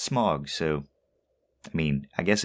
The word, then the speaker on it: Smaug: Smaug. Which I've always pronounced smog, so, I mean, I guess it is what it is.